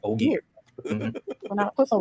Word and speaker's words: Ogier: Ogier.